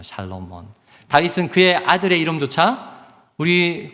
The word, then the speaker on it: 솔로몬: 여러분, 그런데요, 이 솔로몬의 이름을 우리가 보다 잘 발음하려면 솔로몬이 아니고 샬로몬입니다. 샬롬몬이에요. 샬롬몬.